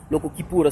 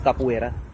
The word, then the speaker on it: Capoeira: the local whatever schools, local Kipura schools, which you mispronounce as Capoeira, all come out and they show what they can do.